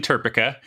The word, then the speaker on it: TERPECA: I was absolutely hoping you were going to ask about that because, yes, it is absolutely TERPECA, like replica or Seneca.